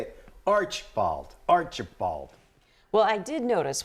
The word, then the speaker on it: Archbald: It's spelled Archbald, and it's pronounced Archibald.